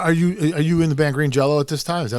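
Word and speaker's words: Green Jellÿ: Well, it's spelled like green jelly, but it's got the 2 dots over the Y, which in some foreign country sounds like an O. So it's still I see. Green Jello.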